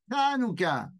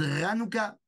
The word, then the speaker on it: Hanouka: des gens qui ont du mal à dire Hanuka puisque le son n'existe pas en français donc il y a des gens qui disent ranuka ou anuka bon moi j'ai aucun